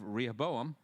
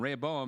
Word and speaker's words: Rehoboam: had been Uriah's wife solomon the father of Rehoboam Rehoboam I said it wrong first time Raya Boehm the father of Abijah Abijah the father of